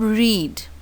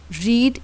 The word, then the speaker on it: read: third form of read, the spellings remain the same, R-E-A-D, R-E-A-D, but the pronunciation is changed. Read is the first form, read, read, second and third form of read.